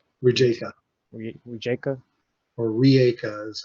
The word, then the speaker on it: Rijeka: basically your login for the GitLab on a Rejiska? Rijeka, Rijeka? or Rieka is how they That pronounce it.